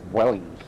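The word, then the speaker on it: Vueling: Somebody says Vuling. I said Ving. I don't know how to pronounce it. And Arthur, you should know. I mean, you're Spanish, so I say I I think it's Wellings. Welling. Welling. Oh, yeah. Welling.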